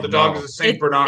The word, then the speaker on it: Saint Bernard: here's what i don't like how british people pronounce saint bernard saint bernard no that's not what that dog is called the dog is the saint bernard it's saint bernard saint saint bernard is your